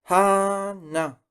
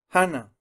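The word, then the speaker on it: 하나: Hana. Hana.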